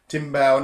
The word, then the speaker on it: timbal: teaching me about this it's spelled t IM b al but in brazil when they speak was in portuguese they don't say timbale they'd say steamed bowel and you play it